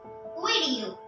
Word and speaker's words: video: Video. The E is pronounced as I.